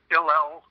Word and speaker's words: Hillel-Erlanger: Irene, and is it Hillel-Erlanger? Is that how you say her last name? Yes. Irene, it's sort of French. Yeah, Irene Hillel-Erlanger.